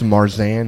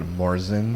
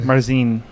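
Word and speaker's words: Märzen: It's Marzan. Yeah. It's Marzan, not Marzen. Marzine, actually. Marzine. How they say it in Well, Germany.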